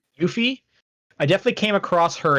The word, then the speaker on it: Yuffie: How do you pronounce her name? Yuffie.